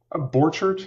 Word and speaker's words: Borchardt: do you say borchart how do you say it borchard is usually how I say it okay um but you